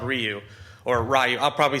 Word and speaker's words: Ryu: to talk about that's in Python is called Ryu or Rayu. I'll probably say Rayu and slip up because when I was looking at the other day, I forgot it's actually pronounced Ryu.